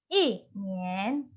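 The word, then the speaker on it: 一年: Bagian B ini adalah modulasi nada pertama ketika bertemu dengan nada kedua. Contohnya adalah 一年. Nah, setelah dimodulasi, dibaca menjadi 一年.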